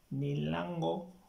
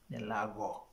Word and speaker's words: Nelago: Nelago, not Nilango or Nilago, but the correct pronunciation is Nelago.